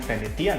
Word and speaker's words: venetian: biasanya ya ini adalah venetian blinds ya atau yang bacanya venitian Ya venetian blinds di sini tertulis ya